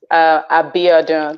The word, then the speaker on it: Biodun: Biodun. That's the full pronunciation of it.